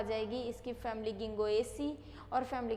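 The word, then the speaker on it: Ginkgo: क्या हो जाएगा, के बच्चों इसमें साइलेंट होता है, कभी भी जिन कैगो नहीं बोलते, गिंगो ही बोलते हैं, तो क्या हो जाएगा ये गिंगो।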